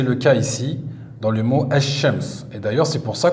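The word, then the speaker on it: الشمس: mot là el cheikh lorsque le lem et solaire on l'écrit on l'écrit mais on ne le prononce pas on dit james o on dit pas l chems ou deuxième chose sur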